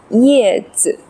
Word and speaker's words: 叶子: alright back to our learning some common words with 叶 so first one yè zi 叶子子 is of neutral tone or no tone light and quick zi 子 yè zi 叶子